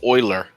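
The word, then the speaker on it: Euler: It is it is pronounced oiler.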